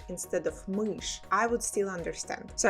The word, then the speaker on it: мышь: Or if you say мышь instead of мышь, I would still understand.